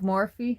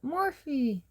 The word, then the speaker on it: Morphe: I thought it was Morph, but there is an E at the end. And the YouTuber who put it on that I follow, she calls it Morphe.